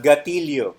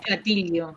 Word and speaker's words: gatillo: We don't pronounce double L as either yo or sho.